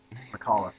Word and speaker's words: McAuliffe: Well, General Anthony Clement Nuts I just realized I don't know how to pronounce that. McAuliffe.